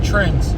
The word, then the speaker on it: TRENDZ: Yeah, found out it's not Trendz. It's Trendz.